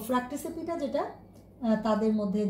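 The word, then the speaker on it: Fracticipita: একটি ভাগের নাম হচ্ছে ফ্র্যাক্টিসিপিটা, উচ্চারণ এভাবেই করবে যেন বানানটা তোমরা মনে রাখতে পারো, ফ্র্যাক্টিসিপিটা।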